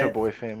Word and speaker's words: ChaboiFam: How you say ChaboiFam.